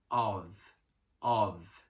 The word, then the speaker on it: of: A gente aprendeu a falar giz agora, então de, que é a preposição, a gente fala of, ok? Of. Então, a pronúncia é como se fosse um V, tá?